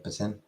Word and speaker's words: poutine: So I can understand people calling it poutine, but not poutine. That long I sound. No. That E. No. It's it. Like tin. Tin.